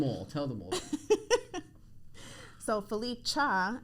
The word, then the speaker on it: Felicha: tell them all so Philippe cha is how you pronounce it AKA your favorite home